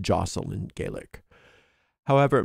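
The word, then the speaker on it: deosil: It's pronounced jocel in Gaelic. However, most English speakers use the spelling and sound it out phonetically, and we say diocel because the correct pronunciation might not be widely recognized.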